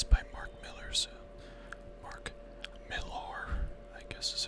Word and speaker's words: Mark Millar: and here's cover see it's by Mark Miller's mark millar I guess is how you say his name